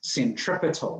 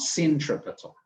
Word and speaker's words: centripetal: It's centripetal, not centripetal, right?